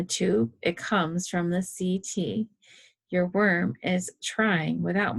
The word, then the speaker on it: setae: That's pronounced, CT. Looks like I've been mispronouncing it wrong all week.